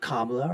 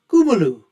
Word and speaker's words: Kamala: There's no way that Kamala Harris, and that is the way that her name should be pronounced, I've been told by Indian folks. It's not Kamala or Kamala, it's Kumalu.